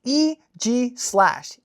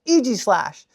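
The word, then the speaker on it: Aegislash: How would you pronounce this Pokemon? Guess what? It's EG slash. EG slash.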